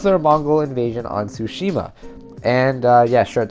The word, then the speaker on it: Tsushima: the teaser silence also it kind of sounds like sushi with a ma on the end well you can speak fluent japanese that's cool i mean tsushima is not that hard